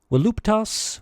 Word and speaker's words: voluptas: Voluptas, voluptatis, is a feminine noun. Classical Latin pronunciation gives the letter V a W sound.